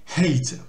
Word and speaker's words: hate: Et on aspire le H bien sûr, faut pas oublier que c'est un H, donc hate.